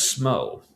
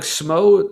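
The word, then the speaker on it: Smough: Like I said, and and I would say like SMO, like it does make sense for a name if not for the fact that they, like I said, they had another character whose name also ends in O U G and they pronounced in game as Goff.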